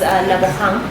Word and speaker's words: Lebohang: My name is Lebohang, Lebo for short, because I know my name is a bit difficult for most people to pronounce. So it's Lebo.